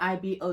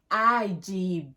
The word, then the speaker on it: Igbo: changed even the spelling they spell IB oh it's not IB or by the way it's igb the g is silent honey it's not that